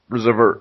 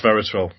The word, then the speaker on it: resveratrol: Reservoir. I'm so bad at pronouncing names. Resveratrol. That's the one.